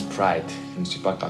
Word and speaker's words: Pride: Pride, votre nom, Pride, ça se prononce Pride.